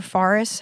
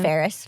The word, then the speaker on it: Ferris: to the part where Ferris freaking a or Fris, how do they pronounce that? They said Ferris.